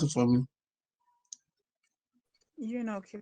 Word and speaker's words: eunuch: Somebody pronounce it for me. Eunuch, you're correct.